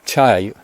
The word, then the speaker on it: De: Actually, virtue is the way that the word Tai in Tao Te Ching is translated, or dirt as it's properly pronounced.